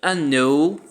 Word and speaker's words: unknown: Você percebe que aqui a letra K ela não se pronuncia, certo? Eu não vou dizer unknown, eu digo unknown. Unknown, ok? O K não se pronuncia.